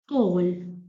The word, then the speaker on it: طول: And when you pronounce tough, not only that you're not only the tip of your teeth stretched, but only it paused a little bit.